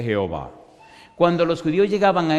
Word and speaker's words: Jehová: En realidad Cuando usted Mira el nombre Jehová solo encuentra cuatro consonantes que no se pueden pronunciar jhw los judíos le pusieron una a y una e y diría Yahweh y los masoretas le pusieron una e una o y una a que dice Jehová cuando los judíos llegaban